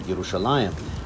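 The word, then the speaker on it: ירושלים: Under the influence of modern Israeli Hebrew, I'd pronounce that Metibta Tifereth Yerushalayim.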